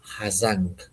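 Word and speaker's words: Hà Giang: Eh, depende de si es más en el sur de Vietnam, que sí que lo pronuncian como hai y si nosotros lo leemos en español es hai pero la gente aquí del norte le llamamos hazang porque como la g y la i es como pues es haz.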